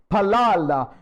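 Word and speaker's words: פלל: Palal. P-A, those who wanted to write down, it's P-A-L-A-L. How do you pronounce it?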